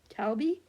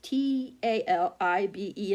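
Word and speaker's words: Talibé: But instead of the days of learning that Ibrahim's, how do you say his name, parents imagined the young boy is called Talbi. It's Talibe, and then it has that little, I always forget what that line is right there above it.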